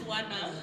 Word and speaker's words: Wana: Wana. Did I pronounce it or I pronounce it like a Nigerian? No, it's Wana.